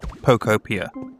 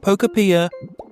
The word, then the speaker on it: Pokopia: It's pronounced Pokeopia. Not Pokeopia.